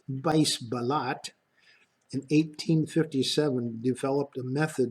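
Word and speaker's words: Buys Ballot: there's a Dutch meteorologist by his ballot pronounced vise ballot in 1857 developed a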